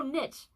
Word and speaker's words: niche: Lenny says, I think I prefer when it rhymes with bitch. Wait, when what rhymes with bitch? Oh, niche.